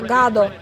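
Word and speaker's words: Gado: Хотя по-английски он произносит как-то гадо. Но я читаю, как написано. Так. Поскольку у нас одинаковые бойцы, одинаковые атаки, сейчас, я думаю, он продемонстрирует все, на что способен вообще Гэдо.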